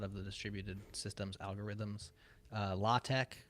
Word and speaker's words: LaTeX: the distributed systems algorithms law Tech which is spelled latex you know like that document